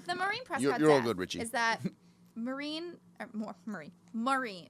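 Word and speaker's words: Maureen: so believe it the Marine press is that marine marine marine how do you say that yeah Morin that she was raped and murdered by cotton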